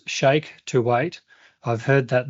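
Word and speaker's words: Sheikh: Jonathan L says, "Shake to wait." I've heard that name before somewhere. I think he's sponsored by Red Bull. It's spelled shake. Sh h e i k h. You know shake.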